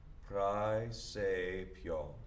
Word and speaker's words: praesepio: And then this vowel combination, the A, E together, is going to be I, like the thing that you see out of in your head.